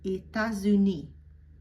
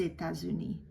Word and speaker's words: États-Unis: But because it's followed by an adjective, united, uni, and it starts with a vowel, I'm going to pronounce that S as a Z. So États-Unis, les États-Unis, the United States of America.